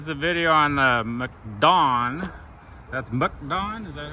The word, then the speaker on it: MacDon: Okay, this is a video on the MacDon. That's MacDon? Is that how that's talked? Mac or Muck? Oh, MacDon. You guys will get all over me for not pronouncing it right.